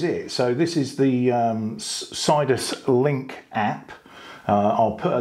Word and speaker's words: Sidus: It's Sidus Link, that's what it's called.